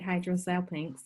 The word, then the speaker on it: hydrosalpinx: Is it a hydrosalpinx when your tube is blowing up with fluid? That's so exactly that's right. what did you say? That's exactly right, hydrosalpinx.